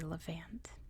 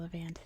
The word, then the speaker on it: Levant: So we are in a region known as the Levant, at least that's how you say it in American English, where we have Israel and the Palestinian territories.